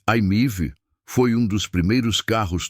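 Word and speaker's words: i-MiEV: Mitsubishi IMV, lançado em 2009, o IMIV, pronuncia-se Aimiv, foi um dos primeiros carros totalmente elétricos produzidos em massa.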